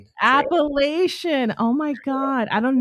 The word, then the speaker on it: Appalachian: So is it Appalachian Trail? Did I say that correctly or no? It's It's Appalachian. Appalachian.